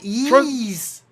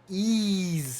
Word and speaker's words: Ys: So we got Ease. Ease is coming out.